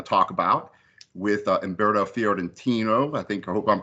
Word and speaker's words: Fiorentino: You also done, of course, these two records here that we're going to talk about with Umberto Fiorentino. I hope I'm pronouncing that right.